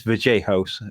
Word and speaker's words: Vallejos: And it's VJOS, isn't it? Not Vallejo.